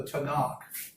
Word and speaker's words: Tanakh: It's called the Tanakh. If you were going to spell that, it would be Tanach.